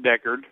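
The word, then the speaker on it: Decherd: what's up hey it's we pronounce it Deckard oh Deckard okay yes uh good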